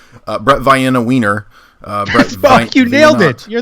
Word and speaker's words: Veinotte: It's Veinotte.